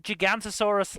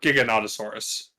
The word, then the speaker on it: Giganotosaurus: a kid yeah but gigantosaurus like actually makes it sound like gigantic yeah I know I also thought the pronunciation was weird but no I'm looking this up it is or Giganotosaurus whatever you want to call it but it is